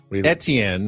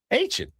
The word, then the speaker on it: Etienne: But obviously, it's more of a Southern pronunciation. Travis Etienne Jr. Yeah. In the north, it's Etienne. But yeah, in the south, it's Etienne.